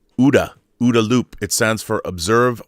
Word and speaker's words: OODA: OODA is pronounced like Gouda OODA loop.